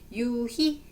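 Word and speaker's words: 유희: 희망 이렇게 읽으시면 되고 유히음 유히 이렇게 읽으시면 되죠 그죠 읽을 때는 2로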